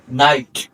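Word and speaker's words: knight: করব স let's start শব্দের শুরুতে কে এন থাকলে তার উচ্চারণ হবে দন্তন্য এক্ষেত্রে কে অনুচ্চারিত থাকবে। তার মানে কে উচ্চারিত হবে না। এক্সাম্পল হিসেবে কে এন আই জি এইচটি নাইট অর্থাৎ কেউ উচ্চারণ হয়নি।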